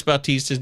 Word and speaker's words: Bautista: Make sure whenever you guys say Felix Bautista's name, Bautista. You got to say it like Buck Martinez when he was talking about the great Jose Baltaster.